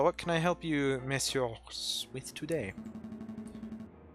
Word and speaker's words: messieurs: It's confusing for me, because monsieur, right there, that's plural, so you would normally not actually pronounce the S, but in the context of it being English, you do pronounce it.